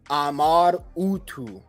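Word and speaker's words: Amar-Utu: see it right here it was a originally pronounced Amar utu so his name was not originally Marduk this is not how you actually pronounce his name his Ren is actually Ahmad utu and here we can see ahmadu so that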